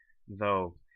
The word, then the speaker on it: though: In English, we have these weird letter combinations like GH, so let's look at the word though. It's pronounced without any sound whatsoever.